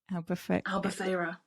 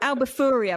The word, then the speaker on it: Albufeira: Albufeira. What she said. I'm like, Albufuria. My friend's like, that's not how you say it.